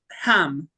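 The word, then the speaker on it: jamón: yeah, it's pronounced ham because jam, Ham.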